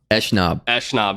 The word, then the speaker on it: Eshnab: How's it pronounced? Eshnab.